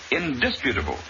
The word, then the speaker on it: indisputable: least the word is indisputable with the accent on the second syllable two james mocked his